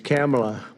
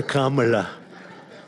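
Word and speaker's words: Kamla: It's a little different. It's cam, right? Cam as opposed to calm.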